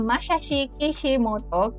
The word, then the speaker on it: Masashi Kishimoto: Berikutnya adalah nama orang Jepang, Masashi Kishimoto.